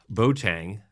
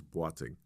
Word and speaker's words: Boateng: His name is Oswald Bang. But it's pronounced different. Yeah. I mean, from Ghana, right? Where from region? Yeah. Ghana. And it correct pronunciation is batting.